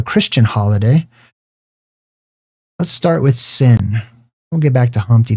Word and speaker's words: Sin: They called that Sin. In the ancient language, sometimes they would pronounce it with a sh sound. So they would say Sheen, which is why they